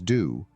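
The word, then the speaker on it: dō: in Taoism, or road, can be pronounced in Japanese either natively as michi, which is a common word for road, or approximately Chinese style as do, as in the martial art judo, the way of suppleness,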